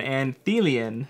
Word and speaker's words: Anthelion: that up to make sure that I was pronouncing it right it is an anthe lien and what is an auntie lien you ask